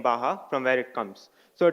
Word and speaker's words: Baja: though it's written Baja it's pronounced as Baja because it's a Spanish word so let me tell